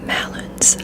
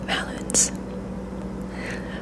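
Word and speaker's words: Maluns: Malloons. I'm pronouncing these all right, all wrong. There's no way. M-A-L-U-N-S. Malloons.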